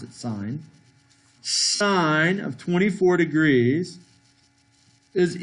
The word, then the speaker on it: sin: and use the word sen but we still pronounce it sine sine of 24 degrees is equal to 19